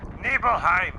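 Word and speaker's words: Nibelheim: Neblehive as it's pronounced by everyone else. Nibbleheim. Nibbleheim. I like it better this way. It sounds German.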